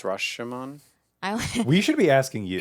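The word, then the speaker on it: Rashōmon: I think it's Rashomon. We should be asking you. In Japanese, it would be Rashomon.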